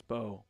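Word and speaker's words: Mbow: Let's do a little Marcus Bow breakdown, shall we? I know it's pronounced Bo, so All right.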